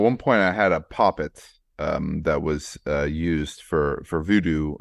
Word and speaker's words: poppet: I had a poppet at one time. I believe that's the pronunciation for voodoo, right?